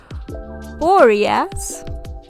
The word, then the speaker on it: Boreas: Uh, the video is about the painting called Boras. That's how you say it.